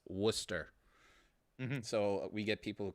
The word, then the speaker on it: Worcester: pronouncing where digikovic's from it's not warchest it's worcester so we get people